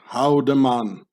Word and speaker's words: Haldemann: In the Bernese Swiss-German dialect, where the Emmental lays in, the name Haldeman gets pronounced Houdeman, meaning, or Houdeman, meaning Houdenman.